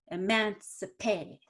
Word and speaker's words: emancipate: elimination optimization good so when you said emancipation i kind of heard emancipation so you took that eye in the cip part and you put a little too much energy into it it should be really simple emancipate emancipate but not emancipation can you try that